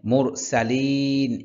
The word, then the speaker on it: মুরসালিন: মুরসালিন এখানে মুরসালিন এখানে ৩ আলিফ টান হবে।